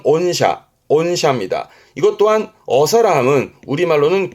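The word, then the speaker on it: 御社: 그리고 하나 더요 발음은 온샤 온샤입니다. 이것 또한 어사라함은 우리말로는 귀사 귀사 개념의 온샤 요런 케이스도 주로 n1 때 발음과 뜻으로도 챙겨둘 만한 가치가 있어서 동급을 했습니다.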